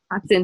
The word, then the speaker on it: attends: Attends un peu, je vais t'aider. On ne prononce pas le D.